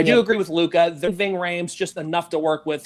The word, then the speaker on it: Ving Rhames: Is it Vic Rhymes? Ving Rhames.